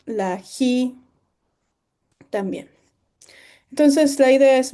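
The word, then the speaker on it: χ: Bien, la fi, luego la ji que se translitera como CH, pero no se pronuncia como CH, sino se pronuncia como J.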